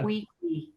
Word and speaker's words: Cui Cui: Qui qui. And it's spelled C-U-I, C-U-I, two Yeah, it's a words. Spanish spelling. Hmm. In English, people would spell it QUI, but that's Kiki.